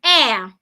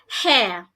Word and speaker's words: air: Another word is air. Air, not hair.